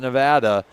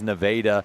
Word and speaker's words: Nevada: Don't call it Nevada. It's spelled like Nevada. I called it Nevada, and Jay Wolf made sure to tell me it is Nevada.